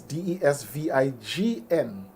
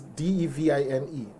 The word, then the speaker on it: Devine: Divine himself that it's not Divine as some people would usually pronounce it. Because Divine is Desvign. Divines. Desvignus, as some people might say. But his is Devine, Divine.